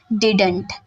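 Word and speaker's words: didn't: यूज कर सकते हैं डंट आप इसे आप इसे डंट या फिर डिंट दोनों में से कुछ भी प्रोनाउंस कर सकते हैं दोनों ही इसकी प्रोनंसिएशन होती है आई डन प्ले या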